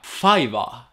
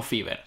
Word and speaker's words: Fiverr: Un momentico, que por lo visto se pronuncia Fiverr, no Fiverr.